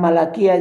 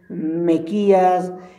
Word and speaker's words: Malaquías: Había hermanos que cuando decían Abdías decían Adidas, o cuando decían Deuteronomio decían otras Deuteronomio, o cuando decían Malaquías decían Mequías, y bueno, un montón de cosas.